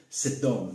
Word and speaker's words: Sedom: Et donc, le C, en fait, même s'il est retranscrit avec un C, mais il se prononce S. Donc, c'est Sedom.